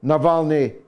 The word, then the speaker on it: Navalny: No, it's not a question of how to pronounce it, and it isn't N-A-L. It's N-A-V.